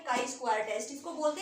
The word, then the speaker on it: chi-square: तो इसको आप डिनोट ऐसे करते हैं और इसको प्रोनाउंस करते हैं काई स्क्वायर टेस्ट, ठीक है।